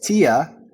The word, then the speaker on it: Thea: And while I came to realize her name is actually pronounced as Tia with the silent H.